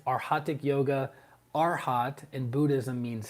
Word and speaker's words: arhatic: yoga for years still don't pra still don't pronounce it properly so it's arhatic yoga arhat in Buddhism means Saint so you